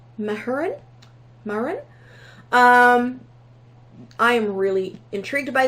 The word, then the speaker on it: Mahurin: I think it's pronounced Mahurin.